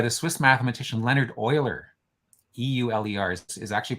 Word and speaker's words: Euler: was tutored by the Swiss mathematician Leonard Euler e-u-l-e-rs is actually pronounced Euler um and he is a very